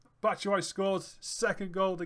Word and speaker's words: Batshuayi: I keep mispronouncing his name, but it's Batshuayi scores.